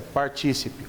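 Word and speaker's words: partícipe: que a outra figura o participe vejam a pronúncia correta essa participe o participe dá uma ajuda extra típica quer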